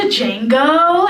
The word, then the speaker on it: Django: have you seen the Django and I was like well first of all the D is silent and yes I did